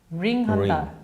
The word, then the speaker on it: wring: W-R-I-N-G인데 예. rinse 다음에 ring이라고 되어 있어요. 네네네. 근데 얘가 다음에 오는 단어는 the ear이거든요. 귀를 ring한다. 귀를 rinse하고 ring한다. 근데 그냥 쭉 읽을 때는 ring the ear. 발음상은 R-I-N-G랑 발음이 동일해요.